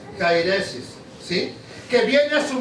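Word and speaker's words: αἵρεσις: prescribe en griego y se pronuncia cairesis sí que viene a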